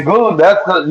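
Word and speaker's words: Şengün: Sengun.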